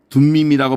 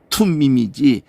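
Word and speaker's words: תֻּמִּים: 진리의 상징으로 대상만 갖고 있는 그 흉패 안에 넣어둔 두 가지가 우림과 둠밈이라고 번역을 하니까 이게 툼밈이거든요. 투라고 해야 되거든. 툼밈이지 D 발음이 아니라고.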